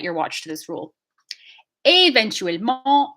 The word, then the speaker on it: éventuellement: Éventuellement, again, that accent is causing this E sound to be an A.